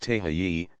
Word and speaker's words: Tehe: I climbed out on the outrigger and supplied the weight to hold her down, while Tehe, pronounced Tehayi, supplied the nerve.